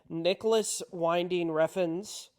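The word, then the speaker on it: Nicolas Winding Refn: I know what it is I watched uh Nicholas winding rein uh is that how you say his name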